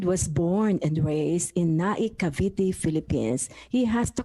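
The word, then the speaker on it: Naic, Cavite: born and raised in naikaviti philippines he has to correct me my own pronunciation n-a-i-c as in nike america i'm not sure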